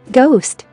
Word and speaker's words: ghost: Ghost, ghost. Ghetto, ghetto. Ghana, Ghana. Spaghetti, spaghetti. Gherkin, gherkin. G is silent in the following GN words.